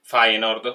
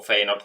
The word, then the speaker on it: Feyenoord: Allora, fascia 1 abbiamo City, Barcellona, Bayern Monaco, Benfica, Siviglia, Napoli, grande Napoli, PSG e Feyenoord, o Feyenoord come lo volete pronunciare.